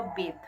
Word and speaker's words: bathe: তো এখানে যখন আমি এই ধরনের কথা বলবো তখন আমি উচ্চারণ করবো বেথ, BATHE।